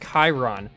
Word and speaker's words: Chiron: people fighting over sheeran or sharon it's actually pronounced chiron see i i looked it up and the